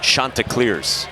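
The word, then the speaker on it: Chanticleers: And their team name is pronounced Shantaa Clears.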